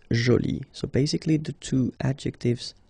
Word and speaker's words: jolie: you put this uh but then you don't pronounce it okay so it's Jolie so basically the two adjectives masculine Jolie and